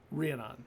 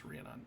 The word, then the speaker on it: Rhiannon: and and rhiannon but how do you pronounce it you pronounce it briannon renon right i was like rhiannon it's not rihanna it's renon okay comes over let me